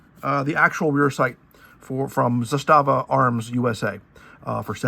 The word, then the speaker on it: Zastava: This is how I know it's pronounced Zastava and not Zastava, which is how I was saying it.